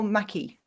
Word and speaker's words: McKee: Have I pronounced that right? Is it McKee or McKee?